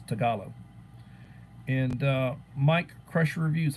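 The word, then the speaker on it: Tagalog: Philippines uh they've got their native uh tugog my pronunciation is horrible tugog or something to that effect talo talo it's tagalo and uh Mike Crusher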